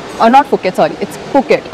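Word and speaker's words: Phuket: नॉट फुकेट sorry it's फुकेट I always pronounce it एज फुकेट but then वहां पे फुकेट होता है नॉट फुकेट में इशन का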